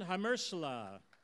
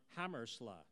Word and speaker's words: Hammersla: Hamersla. Actually, I should have said Hammersla.